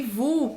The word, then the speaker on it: vous: Et, Vous. não pronuncia o S. Não pronuncia o S. E o OU você já sabe que tem um som de U.